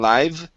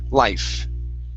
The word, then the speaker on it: life: Next up is Okay, now with life, it sounded like you had said a V sound, saying live. Okay, so make sure to pronounce that F. It's an unvoiced sound. Life.